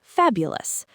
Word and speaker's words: fabulous: The stress is on fab, so the ending is ulsless. Fabulous. The o us part is always weak. That's the key to sounding natural with these words. Don't give that o us ending any power or stress. Let it be quick and quiet.